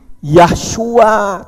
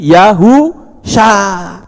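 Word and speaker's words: יהושע: Ayin saya bilang salah Yod he itu membacanya Yah itu betul tapi ketika belakangnya dikasih huruf waau maka bukan lagi yahyua tapi kalau Yah ada huruf wau itu dibaca yahu syin Ayin Sya jadi yahu Sya Kalau Anda mengatakan yahua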